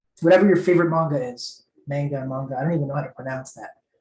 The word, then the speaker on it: manga: Manga. I don't even know how to pronounce that. Genji, how does one pronounce that word? Manga.